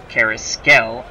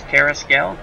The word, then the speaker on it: Carrasquel: Batting first, playing shortstop, Chico Carrasquel. And I looked that up. That is the way to pronounce his name, Carrasquel. Which I will butcher that, but it's Carrasquel.